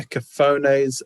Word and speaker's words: cafone: Cafones, a labourer or a peasant, especially one who is Italian or of Italian descent. And the G, even the Gavone, is pronounced Cafone as well, isn't it?